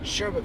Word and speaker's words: sherbet: But if you look at the way it's spelled, there is no R at the end of the word.